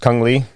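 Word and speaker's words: Cung Le: Anyway, okay, and I believe it's pronounced Kung Lee.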